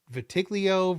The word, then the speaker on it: vitiligo: Vitiligo? Vitiligo? Like the the the skin condition that he had. Vitiligo, I think is I think is how it's pronounced.